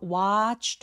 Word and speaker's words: watched: 여기 watched 아니고 watched이 ch처럼 성대가 울리지 않는 무성음으로 끝나는 동사 원형은가 붙으면 트로 발음이 됩니다. 그래서 내 아무리 e가 내 눈에 보인다고 하더라도 발음되지 않고이는 통틀어서 뭐다? t 그래서 watched에 t가 연음돼서